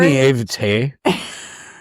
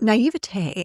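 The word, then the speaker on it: naïveté: naivete, and I just butchered the hell out of that word, but my I can't say it. Naivete.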